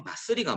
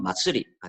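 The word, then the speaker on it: まつり: 이 마쓰리가 뭐냐? 자, 여러분들 요 그림을 보시면은 이 마쓰리가 뭔지 대충 그 감이 오실런지 모르겠지만 마쓰리는 일본어로 조금 더 정확한 일본어 발음은 마츠리가 되겠죠.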